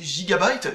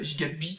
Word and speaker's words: Gigabyte: les plus fiables c'est Gigabyte, Gigabit, vous pouvez le prononcer comme vous voulez, mais c'est avec un Y, c'est Gigabyte. Ou Gigabyte si vous préférez, et donc qu'est-ce que